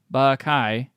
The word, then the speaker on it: Bakai: This is Bakai, pronounced Bakai, rhymes with tie, from St.